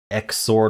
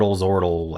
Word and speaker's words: Xordle: all right let's do exort zoral ex the creator has said it can be pronounced either way so why don't I pronounce it both ways um all right we